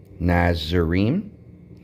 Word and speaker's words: NAZIYRIYM: Here's how you pronounce it. NAZIYRIYM.